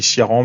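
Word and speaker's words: Ciarán: pour la la prononciation moi je dis siaran mais certains disent Karan vous m'excuserez je vais dire siaran et Domingos donc les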